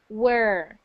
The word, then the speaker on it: were: can differ between where where is spelled with an H like that where so that's like an e where e sound and then we have were which is the sound okay where where were